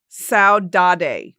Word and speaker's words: saudade: Saudade, but it's spelled S-A-U-D-A-D-E. Saudade. It's saudade is what it says in the phonetic.